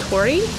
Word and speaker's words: torii: So these orange Torii gates, they are a traditional Japanese gate, and they are pronounced Torii in Japanese, and they are a sign of sacred passage.